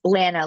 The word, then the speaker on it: Lana: Okay, in our last 5 minutes, is that Lena or Lana? I've actually feel like I haven't formally gotten the correct pronunciation. I want to make sure I do it correctly. It's Lana, like banana.